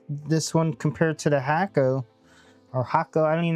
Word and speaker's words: Hakko: Hakko.